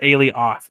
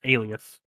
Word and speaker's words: alias: No, you said alias. It's alias.